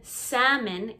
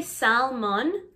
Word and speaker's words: salmon: fish all the time the l in salmon is silent so don't say salmon say salmon salmon m-o-n